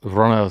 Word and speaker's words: Ronaldinho: And how do you pronounce it? Ronaldinho.